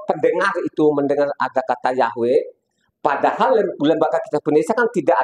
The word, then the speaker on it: Yahweh: itu Nam y ya tulisannya Yod he ww he dikasih tanda masora bacanya yahwe jadi saya pegang namanya